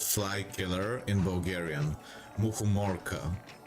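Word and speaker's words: мухоморка: Muhumorka is how you pronounce it.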